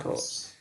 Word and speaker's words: rho: Jadi bentuknya seperti huruf P ya. Bacanya rho.